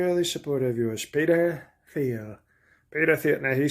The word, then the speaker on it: Thiel: If it's pronounced Thiel, then what the hell do you have an H in there?